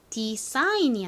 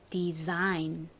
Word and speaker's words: design: 똑같이 생겼어요 요렇게 쓰지만 여기서 중요한 것은 s는요 경우에 따라서는 z처럼 소리가 나기도 합니다이 단어에서 s는 즈 소리가나요 그래서 define이 아니라 Design 이렇게 발음이 됩니다 자 두 번 더